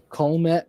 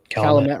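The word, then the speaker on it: Calumet: Um as it crosses um the uh Colt River, if I butchered that, I apologize. Calamett River. Yep.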